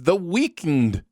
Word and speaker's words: The Weeknd: right let's move on to music video sins the weakened blinding lights you have to pronounce it that way the weeknd yeah there's